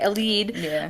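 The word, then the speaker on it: Elide: a light sorry how do you say it elad like e El yeah okay because IDE it would say I but okay El lead um so obviously she's going to try to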